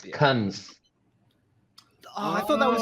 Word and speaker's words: Cannes: It's Cunns.